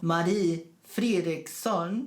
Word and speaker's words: Marie Fredriksson: Anyway, Roxette was a Swedish pop rock duo consisting of Marie Fredriksson and Per Gessle. This is the way you have to pronounce it.